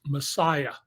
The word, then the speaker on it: MSIA: The story I left the LA Times over was an expose of the cult in Hollywood, the MSIA, pronounced Messiah, uh, run by a